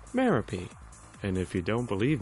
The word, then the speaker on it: Merope: It's not pronounced Merope, and definitely not Merope. It's pronounced Merope.